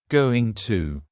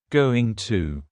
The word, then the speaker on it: going to: just like want to going to is generally pronounced with the schah going to going to you going to ask